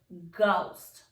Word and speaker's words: ghost: First, I will mark the H silent to remind us that GH at the beginning of a word says G. So I put a line through to let me know it's quiet.